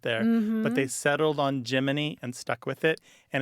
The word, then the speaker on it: Gemini: space program giny is Jiminy as in Jiminy Cricket yeah that became their